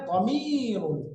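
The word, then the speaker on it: ضمير: এই প্রনাউনকে আরবিতে বলে দমিরুন। আমি 3 বার উচ্চারণ করছি, শব্দটা হবে দমিরুন, দমিরুন, দমিরুন।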